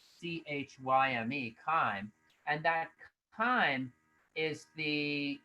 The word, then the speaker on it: chyme: turns everything into chyme uh and that word is spelled c-h-y-m-e chime and that time is the uh is very